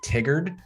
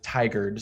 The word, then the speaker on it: Tigard: they're not from here a lot of people say tiggered but it's actually tigered so that's definitely one